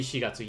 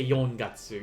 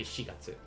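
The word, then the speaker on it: 四月: can only use one you can't use yon because uh it's only going to be shigatsu you can't say yon gatsu even though most japanese people would understand uh the correct way would be to say shigatsu and that's that's the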